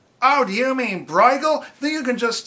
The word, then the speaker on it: Brueghel: but it's not it because it's not German so you just say Bruegel and if they don't get what you're talking about you say well Bruegel and they say ow do you mean Bruegel that you can just